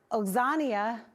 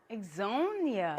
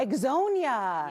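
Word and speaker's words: Ixonia: Everyone loves to live in Oxania. You were close. Onia? Exonia. Exonia. Yes. Ah, Exonia.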